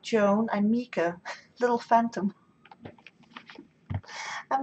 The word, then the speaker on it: Mika: I'm Mika, little phantom. I'm not sure if you knew that, but I'm Mika, written Meeka. Well, that's the way you pronounce it anyway.